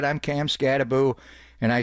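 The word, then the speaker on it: Skattebo: Is it Scatabo? It's B-O at the end, not Boo. He is scary. He said, I'm Cam Scataboo.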